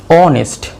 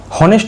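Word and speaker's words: honest: বলেছিলাম অ বা আ তারপরেরটা কি অনেস্ট অনেস্ট অনেস্ট হনেস্ট তো আমরা বলবো না আমরা কি বলবো অনেস্ট তাহলে অ এর মত উচ্চারণ হলো তাহলে আমরা কি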